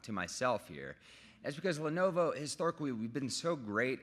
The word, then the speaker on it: Lenovo: of people, that don't know how to pronounce or spell Lenovo. They say Lenova.